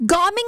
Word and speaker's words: Gaming: trouble you to find Gaming and deliver these goods? Oh, it's pronounced Gaming? I'm so sorry. I've been saying gaming.